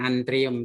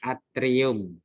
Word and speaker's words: atrium: Tadi kebutuhan ya, kemudian atrium ya, bukan antrium tapi atrium.